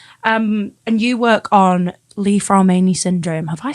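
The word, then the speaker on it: Li-Fraumeni: previously but yeah um and you work on Leaf ran Syndrome have I said that right you certainly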